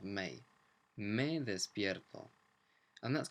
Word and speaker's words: me: me in English but it's pronounced more like the month of May May this beautiful and